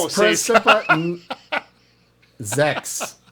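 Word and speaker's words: sechs: Zex is how it's said in German.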